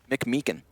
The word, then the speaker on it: McMeekin: Is that how you pronounce his last name? Yeah. McMeekin? McMeekin. McMeekin. Okay. MC, M-E-E-K. MC Meekin.